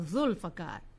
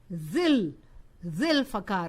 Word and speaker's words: Zulfiqar: The best example I can see for this change of pronunciation is the name of the Imam Maulana Zulfiqar Ali. In the third part of our dua, we say la fata illa Aliyun la saifa illa Zulfiqar. Zulfiqar. But here in the sixth part, the pronunciation changes to Maulana Zil Zulfiqar Ali.